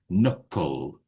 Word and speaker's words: knuckle: And we have a silent K there. So we don't say the K. We just knuckle.